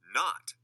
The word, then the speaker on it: knot: A silent K comes in front of N.